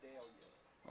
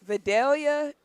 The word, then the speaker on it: Vidalia: Vidalia. Oh, see you. You even got the pronunciation wrong. City of Videlia.